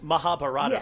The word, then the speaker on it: Mahabharata: I believe the pronunciation is Mahabharata, but I'm happy to be corrected on that.